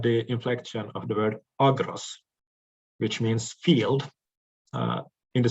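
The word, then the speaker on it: ἀγρός: The only notable difference in the inflection of the words agros and logos is that the accent lies on another syllable. That is, on the first syllable in logos and on the second syllable in agros.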